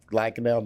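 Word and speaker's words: Lankenau: chief of surgery of brinmar and lacanau Hospital pronounced correct lacanau did I do that right that's correct okay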